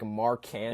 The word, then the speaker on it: Markkanen: It's because like I phonetically remember how to spell it, like Markkanen because I remember like the 2K.